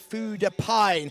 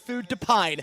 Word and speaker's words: Food de Pine: And then we have Food de Pine. I'm going to get you on a pronunciation call up there, Mark Francis. It's Food de Pine, not Food de Pin.